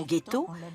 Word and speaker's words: ghetto: le moyen âge et qui en vénitien se prononcer jeetoo car on y jetait les scories de cuivre la prononciation ghetto date de l'arrivée des juifs d'allemagne c'est à dire qu'elle